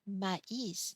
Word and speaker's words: maïs: So mais with no accent means but here maïs means corn in English. So again, an accent change the pronunciation, but also the meaning of the word.